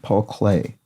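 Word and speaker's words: Paul Klee: Paul Clay um is how that's pronounced. And of course, it sounds like the art medium clay.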